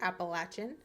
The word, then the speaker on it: Appalachian: about the appalachin mountains and yes I do pronounce it appalachin how it's pronounced in the Georgia region which is where a